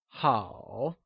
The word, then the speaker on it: 好: It is said with a falling, rising tone, also known as the third tone, like 好.